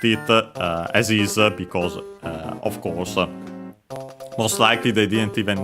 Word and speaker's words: コース: Yeah, the English word course accented, just like in English on the ko. On the first syllable, course, high, low, low.